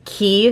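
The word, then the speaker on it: Quay: YouTube is loving those key sunglasses it's spelled like q u a y that's actually how we pronounce it in Canada as well but it's an Australian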